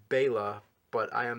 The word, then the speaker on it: Bela: in in that trap of saying Bella, but I believe it's wrong because I I have a lot of Hungarian fans who have sent me emails saying that I'm saying it wrong or whatever. And uh so I I believe it is Bela, but I am not Bela Lugosi.